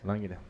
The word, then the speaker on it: Langner: Correta a pronúncia? Correto. Langner.